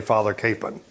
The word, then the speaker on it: Kapaun: father by the way to pronounce father capen or father capone the families would say father kapaun but they don't care but kansans all say father capen so when you hear